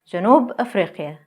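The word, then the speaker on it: جنوب أفريقيا: Janub Afriqa, South Africa.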